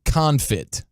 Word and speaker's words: confit: Okay, so inside the sausage, you're going to get a brisket tallow confit. CONFIT. That's confit. Confit. Yeah.